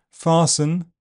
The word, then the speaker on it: fasten: in words ending s ten, fasten, hasten, listen, and in some imported French words such as ballet and chalet.